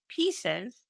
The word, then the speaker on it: PCEs: number by one spot by pieces pronounced pieces pieces stands for positive childhood